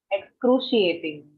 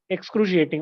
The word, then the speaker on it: excruciating: What is the pronunciation? Excruciating. Excruciating.